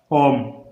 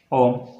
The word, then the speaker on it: ओम: ओम किसी का नाम है, संज्ञा ओम। अगर यहीं हमने ये बोल दिया ओम, तो इसको कैसे बोलेंगे? ओम। ये क्या है? ओम। ये क्या है? ओम। एक लंबा उच्चारण हो रहा है ओ में, ओ में क्या हो रहा है?